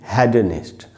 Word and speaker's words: hedonist: ये जो वर्ड है HEDONIST, इसके दो उच्चारण हैं। ब्रिटिश इंग्लिश में इसको पढ़ेंगे हेडनिस्ट, अमेरिकन इंग्लिश में इसको पढ़ते हैं हीडनिस्ट। इंडिया में ब्रिटिश इंग्लिश चलती है, आपकी मर्जी, आप इसको कैसे भी पढ़ सकते हैं।